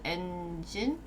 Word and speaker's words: Nginx: So this apparently is pronounced Nginx.